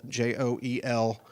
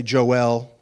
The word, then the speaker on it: Joel: name I'm Joel j o j o eel as some in pinasco would say Joel okay and you'll learn the reason why here in a few minutes so Joel my wonderful wife